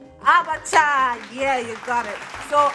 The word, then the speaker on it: abacha: in English African salad so it's actually abacha in EO so it's actually a